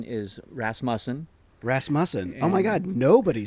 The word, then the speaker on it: Rasmussen: for Ras Moen um but yeah the correct pronunciation is rasm rasmon oh my God nobody says it right then